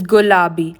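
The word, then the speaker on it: ಗುಲಾಬಿ: Pink is gulabi. Let me repeat that. Gulabi. Blue is pronounced neeli in Kannada.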